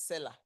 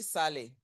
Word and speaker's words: Saleh: people that read Bible, they pronounce my surname as Seller. It's the seller in the Bible, but it's actually Saleh.